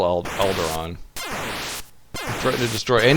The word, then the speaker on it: Alderaan: Alderaan. That's correct. Despite how you spell it, it's still Alderaan.